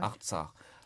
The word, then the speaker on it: Artsakh: Alors, il y a un nom en arménien, vous me pardonnez si je le prononce mal, qui est Artsakh. Artsakh, oui. Artsakh.